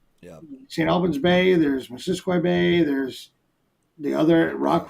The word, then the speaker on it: Missisquoi: Missisquoi. That's how you pronounce it? Yeah, not Missisquoi or whatever.